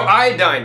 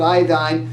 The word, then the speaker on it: iodine: Well, some people pronounce it iodine, but that's only because somebody combined iodide, that ends in IDE, iodide, with iodine, and they came up with iodine. But there's no such thing as iodine.